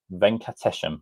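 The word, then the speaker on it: Venkatesham: Vini uh Venates, that's how you say it, is hired as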